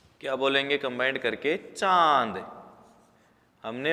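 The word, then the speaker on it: चाँद: यह चंद्रबिंदु होता है अगर यहां पर चंद्रबिंदु नहीं होता तो हम इसको चाय बोलते चाद इसको किस तरह साफ करता यह चांद लेकिन चंद्रभान को लगाने के बाद इसको बोलेंगे हम चांद एक सांड अलग से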